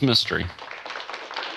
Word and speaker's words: Mistry: I'm afraid not roxtor Pranav Mistry that's right pronounced mystery but yes and Patti